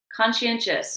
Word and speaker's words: conscientious: "Conscientious syllables?" Good, con-sci-en-tious. Four syllables. It's four syllables. Con-sci-en-tious.